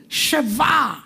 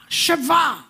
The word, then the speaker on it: sheva: Sheva. Sheva.